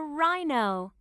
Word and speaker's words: rhino: learn this is a rhino what's the beginning sound in rhino r that's right rhino can you hear the sound in rhino no that's right the h is silent rhino this is a